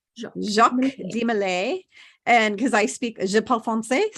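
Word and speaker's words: Jacques de Molay: tell you who jacques his name is pronounced jacques di malay jacques de malay and because i speak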